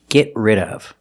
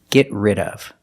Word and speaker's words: get rid of: Pronunciation, get rid of. We see the T in get is a stop T. Get rid of. Link the sounds. Link the stop T to the R.